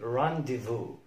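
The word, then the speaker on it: rendezvous: آخر حرف معانا هو حرف الزد في كلمة زي رانديفو رانديفو رانديفو. الزد هنا لا ينطق، ودي كلمة فرنسية ومعناها باللغة العربية موعد أو ملتقى، خاصة موعد غرامي رانديفو رانديفو.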